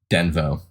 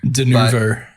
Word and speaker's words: Denuvo: That wasn't necessarily because of Denvo or whatever. Denuvo. Denuvo, Denuvo, tomato. I would have said Denuvo. Well, it's spelled wrong in the fucking notes, so.